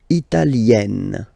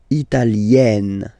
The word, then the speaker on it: Italienne: L'Italie, Italien, Italienne. Remember, when you get this E followed by a double consonant like here, then you will have to open it. Italienne, Italienne.